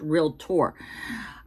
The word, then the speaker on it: realtor: It's not 3 syllables for realtor. It's just realtor.